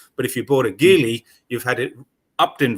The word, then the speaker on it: Geely: Yeah, Geely or Geely, depending on your pronunciation, but Geely is the Chinese correct way of saying it, I think.